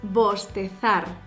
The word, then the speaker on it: bostezar: To yawn in Spanish is bostezar. Bostezar. Also remember, in Latin America you can pronounce bostezar. So both are correct.